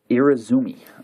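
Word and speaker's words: irezumi: tattoos that is called irizumi um I might pronounce that wrong so I'll spell it it's i-r-e-z-u-m-i and it literally means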